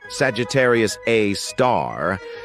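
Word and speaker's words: Sagittarius A*: an exception we've got Sagittarius A which is pronounced Sagittarius A star this space monster is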